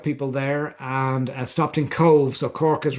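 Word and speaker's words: Cobh: And the answer is Cove. As we say, we pronounce that Cove, Cove, an Oscailga name, but Cove is the port very close to Cork.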